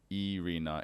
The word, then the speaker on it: Irina: that yeah alright but pronounced Irina in her native language Russian so since those really